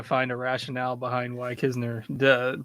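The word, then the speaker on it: Knizner: Like, if you want to be called Kisner, you can't put the N there. Like, this is just how letters work. It is very confusing, but it is Kisner.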